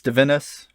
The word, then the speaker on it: Divinus: I'd say Divinus, sort of looking at it as a Latin thing, but it's fine any way you say it.